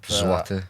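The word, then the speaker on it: złoty: How do you say? Zloty. Zloty. It was like one pound was worth like 5 them.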